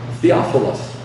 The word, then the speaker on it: Theophilus: Theophilus. That's how you say it in Greek.